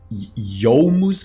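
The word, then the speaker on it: Youmuu: got the Yuma's ghostbed apparently it's pronounced yomus goes blade but I don't care I call it Yuma's ghostblade I think you guys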